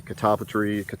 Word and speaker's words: catalpa: Plant some trees that do good with a lot of water, and plant some maybe catalpa or catawba trees, depending on how you say it, for fishing worms and things like that in that area.